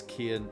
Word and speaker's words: Cian: Cian. That's Kian.